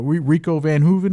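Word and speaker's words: Rico Verhoeven: like the likes of like van H uh Rico Van Huen that's how you say his name and went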